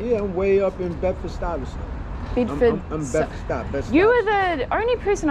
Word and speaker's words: Bedford-Stuyvesant: Can you pronounce it for me again? Bedford-Stuyvesant. Bedford-Stuyvesant.